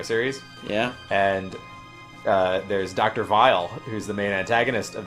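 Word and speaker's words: Wily: in the English version, everybody's like, he's Dr. Whale, or Dr. Weil, or Dr. Wheel, or something. And it's like, that it's supposed to be pronounced Dr. Vile, because in like the Japanese version, he's like, Dr. Vile! Dr. Vile!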